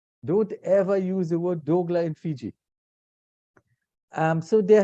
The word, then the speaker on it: dougla: have the dogla now dougla in Guyana is pronounced dogla and actually I was